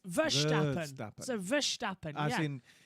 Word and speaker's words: Verstappen: It's actually Verstappen. I've got it right, because I always say it's not Max Verstappen, it's Verstappen. So Verstappen, As in, if you would spell it in English, it would be Veer.